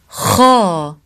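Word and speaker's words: خ: Kha, kha, kha, kha. Kha sound is pronounced from top throat.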